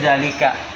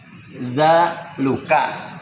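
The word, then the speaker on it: ذلك: ya nah di sini Kita bisa yakin bacanya zalika. Iya. Kok bisa zalika? Kan ada kemungkinan kalau ngeraba doang dza luka kan boleh tuh. Kan bisa tuh atau dalaka kan boleh tuh kalau ngasal boleh gitu. Tapi kita bisa bilang enggak. Ini itu bacanya zalika.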